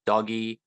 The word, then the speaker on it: Doge: of this tell them it's it's pronounced doggy because it's named after a a funny picture of a doggy on the internet yeah so that they